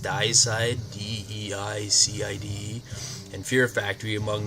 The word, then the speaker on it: Deicide: Benighted subsequently toured throughout Europe with Morbid Angel, I think the second one's pronounced Deicide, D-E-I-C-I-D-E, and Fear Factory, among many others.